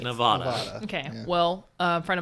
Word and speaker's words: Nevada: Nevada. which is 100% how that's pronounced. It's definitely Nevada.